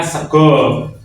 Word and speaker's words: sega: Ada beberapa yang dibaca seperti itu kayak Kulo, Sego, yang Sego itu kan tulisannya Sega ya. Nah, tapi dibacanya Sego gitu.